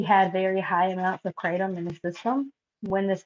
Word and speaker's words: kratom: the alkaline diet um mixed with the crate kratom is how you say it kratom um doctor warned